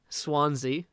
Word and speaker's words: Swansea: i've heard of it swansea like the swans like hit the jukebox